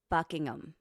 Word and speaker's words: Buckingham: I'm going to Go easy on the H. Buckingham.